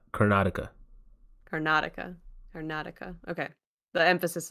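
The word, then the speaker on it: Karnataka: that's the area cartica that's how you say it yeah I've Miss pronounced that in many videos car yeah yeah yeah cartica you say it cartica at least that's the my T version of the in English accent version of saying it yeah yeah yep car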